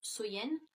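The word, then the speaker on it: Samhain: de l'année donc était samen donc qui est prononcé qui se prononce soyen et donc il croyait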